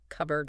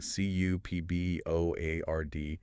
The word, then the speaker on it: cupboard: Usually in a cupboard. A cupboard. Exactly. like a cabinet in the kitchen. And remember the spelling, c u pb o a r d. But that p is silent, right?